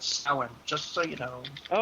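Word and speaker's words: Samhain: kind of coming up on here you know Sam Hayne and and uh Halloween it's just so you know it's pronounced s it's spelled Sam Hayne but pronounced sin just so you know oh thank you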